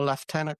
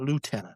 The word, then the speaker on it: lieutenant: It's left tenant. It's not lieutenant. Lieutenant is American. Left tenant is Canadian and British.